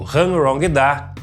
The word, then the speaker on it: Hanrongda: unbox e review do Hangrong-Da K603. Chegou a hora de abrir mais um aparelho, que é esse aqui, o Hangrong-Da K603. Essa aqui é a pronúncia correta. Hangrong-Da, que é um rádio irmão do Ritex, né?